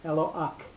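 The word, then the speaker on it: אֱלוֹהַּ: So the way that word is pronounced is as if there are 2-letter heys at the end of the word, and the patach is on the first of the letter hey. So if you're going to not pronounce one of God's names, it would be properly pronounced Eloach. The hey, the first hey, has a patach under it, and the second one,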